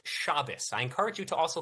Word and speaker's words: Shabbos: I saw the whole video, Chabos. I've seen the entire video. Okay. Yeah, I've seen the whole thing. Also, it's pronounced Shabbos.